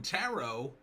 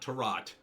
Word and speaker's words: tarot: a screenwriters rant on tarot yes I said it right it's not terat a a horror movie